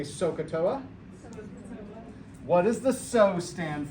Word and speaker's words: SOHCAHTOA: here's what it is it's s o h and it's a so it's a long o it's k and it's a soft a and it's toa soft a okay so everybody say sokatoa what does the so